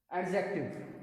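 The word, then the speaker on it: adjective: यहाँ पे देखिए, इसको जब हम पढ़ेंगे तो यहाँ पे डी को आप थोड़ा साइलेंट पढ़िएगा। क्या पढ़ेंगे? एडजेक्टिव, ठीक है ना। डी को आपको साइलेंट कर देना है।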